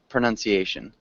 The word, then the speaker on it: pronunciation: pronunciation pronunciation yes um so we have pronounce which would be the ow sound but pronunciation so it's got like more of a nun sound instead of of a noun uhhuh uhuh okay can